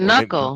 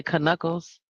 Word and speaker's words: knuckle: so yeah but knuckle second grade knuckle ken what's how you spell knuckle ken yeah the k is silent right so Yeah. You don't say kuckles.